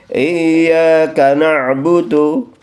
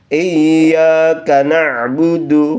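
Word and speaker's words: إياك: Iyaka na'budu. Nah, berikutnya lagi. Iya. Iya. Kita tebalkan, kita tekankan hamzahnya kepada huruf ya. Iyaka na'budu fauqal ya. Jadi tasjidnya di atas huruf ya.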